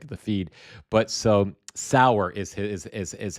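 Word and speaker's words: Sauer: But so Sour is how his name is pronounced.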